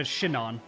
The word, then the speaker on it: Shinon: It's a shinon. That's how you pronounce it. Shinon. It's like, "Oh, I hurt my shin."